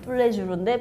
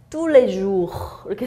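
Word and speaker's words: Tous les Jours: 뚜레주르 이게 이제 한글 표기는 뚜레주르인데 프랑스 말로는 뚜레주 이렇게 돼야 되죠. 뚜레주.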